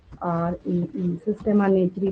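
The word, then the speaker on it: Systema Naturae: तो ऐसे लिख लीजिए, या फिर हेडिंग भी दे देती हूँ इसकी, SYSTEMA, सिस्टेमा, NATURE, सिस्टेमा नेचुरी प्रोनाउंसिएशन हो जाता है इसका, ठीक है।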